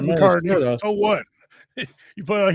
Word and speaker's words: McCarthy: He's going to have his growing pains, but he's not going to be a bust like JJ McCartney or JJ McCarthy, whatever. Yeah. You said it right, McCarthy.